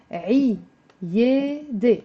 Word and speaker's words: عيادة: عيادة. It's 3 syllables and it has the عين.